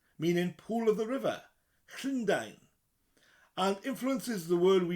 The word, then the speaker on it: Llundain: A double L at the beginning. It's like the word Lynn, but with a Llundain. Llundain. Dine as in the English word dine in. I'm to dine with food in front of you. To dine at a restaurant.